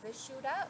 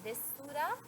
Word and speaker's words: Vishuddha: So, as I mentioned, the Sanskrit name is Vishuddha, or sometimes it's pronounced Vishuddha, and this means purification.